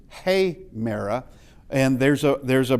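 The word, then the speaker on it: ἡμέρα: And uh you'll wonder why I pronounced it hayra. We'll get to that in a bit. Uh because there's something there's something there telling me that uh instead of a merra with the ad aa sound, it's heyra.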